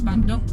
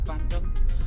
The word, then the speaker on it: Bandung: Yeah, it is Bandung, but spelled slightly different. So it's spelled Bandoeng, so Bandung.